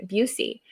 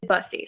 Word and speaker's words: Bussy: of her audiobooks and the narrator pronounced her last name Busey. And so I got confused. I was like, have I been pronouncing it wrong this entire time? Like, Morgan's gonna, beat me up. But then I texted her and I was like, did she get it wrong, or am I wrong? And it is Bussy.